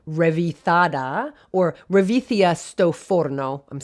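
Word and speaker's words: ρεβίθια: In Greek, the word is revithia. I don't know Greek, but it is revithia. So I'll spell it for you because the name of so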